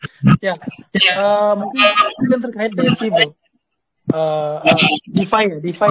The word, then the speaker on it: DeFi: DeFi ya bacanya, DeFi.